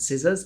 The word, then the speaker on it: scissors: Silent C is a bit sneakier. In words like muscle and scissors, the C is completely invisible to your ears.